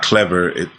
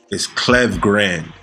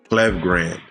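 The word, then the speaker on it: Klevgrand: It's not Clever. The pronunciation of their name is a little weird. It's Clev Grand. Clev Grand.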